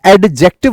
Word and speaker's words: adjective: डी को यहां से हटा दो, साइलेंट कर दो। जैसे नॉलेज में के साइलेंट होता है, ऑनेस्टी में एच साइलेंट होता है, वैसे ही एडजेक्टिव नहीं होता, एडजेक्टिव होता है।